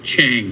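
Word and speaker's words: Chiang: If you want to grab a pen, my last name is spelled Chang. C H I A N G. There's an I before the A.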